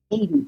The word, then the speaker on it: Hedy: And I want to tell you, my name is pronounced like the country, Hedy.